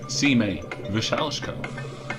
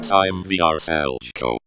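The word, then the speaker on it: Šime Vrsaljko: If you said Sime Vyshchenko, you're wrong. The answer is Sime Vyshchenko.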